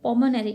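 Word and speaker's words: pulmonary: बट पल्मोनरी arteries, यहाँ पर इसका प्रोनाउंसिएशन के लिहाज से एल जो है वो साइलेंट है, तो इसे हम पढ़ेंगे पल्मोनरी arteries carry deoxygenated blood.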